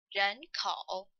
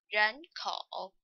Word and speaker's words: 人口: So, we still pronounce the complete third tone. So, this phrase about population should be pronounced like 人口. 人口.